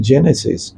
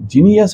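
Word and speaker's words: Genesis: আমাদের একটা হাসপাতাল আছে হাসপাতালটার নাম জেনেসিস খুব একটা ডিফিকাল্ট না কিন্তু একে অনেকে বলে গোনাস হাসপাতাল জিনিয়াস হসপিটাল জেনেটিক্স হসপিটাল তখন আরেকজন কারেক্ট করবে ওটা জেনেটিক্স না ওটা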